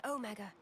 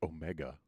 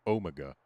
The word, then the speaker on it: Omega: I'd always heard it pronounced Omega, but I guess it's Omega. At least when being pronounced in European English.